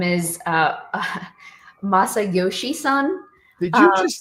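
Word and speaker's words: Masayoshi Son: So SoftBank CEO, his name is Masayoshi-san. Did you just say that with perfection? I tried my best. I hope I pronounced it correctly.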